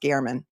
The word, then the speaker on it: German: G Gman or Gman it's spelled German g e r m- an but it's pronounced Garman the person walking toward